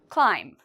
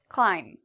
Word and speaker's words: climb: Climb. Is there something in here we don't pronounce? Climb. If you said B, we do not pronounce the B, you are correct.